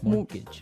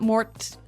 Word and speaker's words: mortgage: with a t yeah it has a t in it but you don't pronounce it you say mortgage morgage so not Mort mortgage not morgage morgage